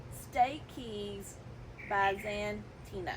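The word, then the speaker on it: Stachys byzantina: I have the pronunciation Stak Keys Banta Stak keys by Zan Tina that's how you say it but lamier is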